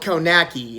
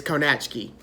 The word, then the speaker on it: Kownacki: cannot ski its belt cone a key and I think that's how I first heard it pronounced even during his fights but I believe the pronunciation is ko-nach key this guys rising through